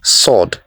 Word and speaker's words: sword: the letter W next would you pronounce this one as sword or sword the correct pronunciation a is sword the silent letter here is letter W next this is not